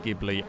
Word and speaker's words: Ghibli: I know it's pronounced Ghibli. I have just always called it the gibble, and it's more fun to say that way.